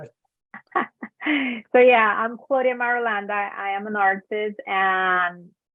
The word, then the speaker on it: Marulanda: So going back to my last name is Marulanda. So my Good, full you name pronounced it because I would butcher it. So I'm glad you took care of it. So yeah, I'm Claudia Marulanda.